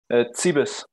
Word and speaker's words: Cibis: Wie spricht man deinen Nachnamen aus? Zibis.